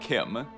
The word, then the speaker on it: CHIM: Someone said it was Chim as in chimney, but I recently found out that Kirkbride actually said, "No, it is Kim."